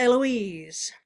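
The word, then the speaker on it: Héloïse: So back to Eloise. The H is silent, otherwise it looks like Heloise.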